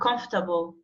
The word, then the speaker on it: comfortable: We don't say comfortable. We don't pronounce that letter R. Comfortable.